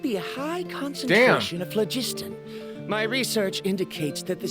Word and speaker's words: phlogiston: a high concentration of phlogiston. My research indicates that the Spirit Way was originally a natural phenomenon caused by the flow of phlogiston. Phlogiston, that's how you pronounce the word.